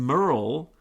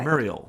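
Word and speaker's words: Merial: Institute, who created some of these coronaviruses, and Merle PLC, which, Merle, I can't remember the exact name of the company, M-E-R-I-A-L. No, that's correct. Muriel. Yeah. I'm saying it wrong. Muriel.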